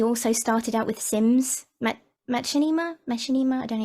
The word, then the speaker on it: Machinima: Machinima? I don't know how you say it. Machinima, yeah.